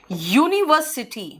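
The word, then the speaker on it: university: यूनिवर्सिटी, बेटा again you का pronunciation आ रहा है, आ से लेकर आओ तक के बीच में ये नहीं है, इसीलिए अ यूनिवर्सिटी।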